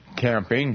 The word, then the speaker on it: Camping: say your name again camping just like going out in the woods with a tent okay camping nice nice